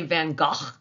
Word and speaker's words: van Gogh: portrait of his mother vincent van gogh actually van gaal but if i keep saying van gaal i'm going to have a sore throat so we're going to call him van gogh with the little acknowledgement that i know that's